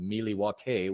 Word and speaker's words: Milwaukee: quote in wayne's world alice explained the meaning behind the name milwaukee saying it was actually pronounced mili wakay which is algonquin for the good land as it turns out